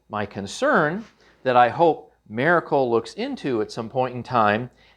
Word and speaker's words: Maircle: of an unusual name you kind of want to say Miracle but that's not how it's spelled it's Miracle so I was able